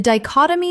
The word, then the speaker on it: dichotomy: Example The dichotomy between what the policy promised and what it delivered became increasingly impossible to ignore.